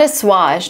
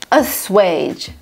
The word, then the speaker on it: assuage: This word, not assuage, not osage, assuage.